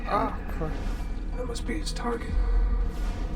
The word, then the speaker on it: Acre: It's pronounced Acre.